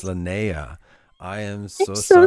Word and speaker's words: Lanayah: I've been saying Lanayah, so it's Lanayah.